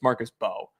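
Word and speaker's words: Mbow: I think that it's Bo, by the way. It's Marcus Bo. Marcus Bo? Yeah, Marcus Bo. Okay, the M's not pronounced.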